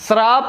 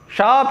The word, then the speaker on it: शाप: श्राप नहीं होता, यहाँ तालब विषा होता, शाप, शाप इसको पढ़ेंगे।